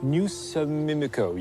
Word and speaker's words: New South Mimico: It's pronounced Newsamimico. You elide the...